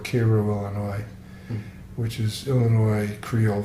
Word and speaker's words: Cairo: you know Illinois called Cairo Illinois which is Illinois Creole for a place that would be spelled like it was Cairo but in southern Illinois is called Cairo and so Ted had